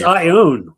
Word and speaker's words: Ioane: It's Ioane. It's Ioane.